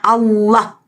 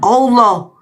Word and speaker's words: Allah: Al-Qur'an huruf hijaih tidak ada O dengan E. Enggak ada alif. Alif lam lam ha. Bacanya Allah bukan Allah.